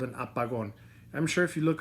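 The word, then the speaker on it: apagón: an x that little x is called an apagon a pagodas are basically when you use this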